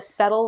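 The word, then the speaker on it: cetyl: You're not seeing, when I reviewed them, about half of the settle, which is spelled C-E-T-Y-L, was spelled S-E-T-T-L-E.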